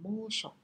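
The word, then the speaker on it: 猛暑: thể gây chết người, thì đọc là mô sổ. Mô sổ. Thì chữ mãnh này kết thúc bằng NH, nên là nó có trường âm ở mô.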